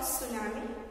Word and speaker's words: tsunami: It is called tsunami, it is silent, and some seismic waves happens after the volcanic eruption.